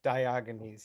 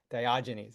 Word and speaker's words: Diogenes: it in the chat diogenes yeah that's right David thank you diogenes it's a soft G I think that would